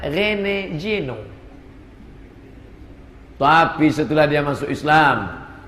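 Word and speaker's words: René Guénon: Cara bacanya Rene Geno.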